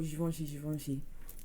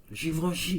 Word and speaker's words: Givenchy: There's bare people out there that call Givenchy. Is it not that? No, it's Givenchy. Givenchy.